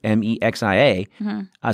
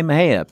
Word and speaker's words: Mexia: was surprised when I saw it was spelled M EXI a surprise that a it was spelled in Spanish and they pronounce it instead of saying Mexia because the